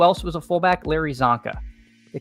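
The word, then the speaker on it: Csonka: Larry Zanka.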